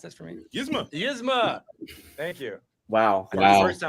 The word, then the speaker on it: Yzma: Can you pronounce this for me? Gizmo. Yzma.